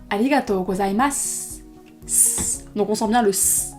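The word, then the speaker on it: ありがとうございます: le son en su 95% du temps lorsqu'il y a un mot qui se termine en su en fin de phrase il va pas se prononcer dessus mais comme un petit serpent donc par exemple pour remercier de manière pollue on dira pas aligato gozaimasu et on dira alligatozaimas donc on sent bien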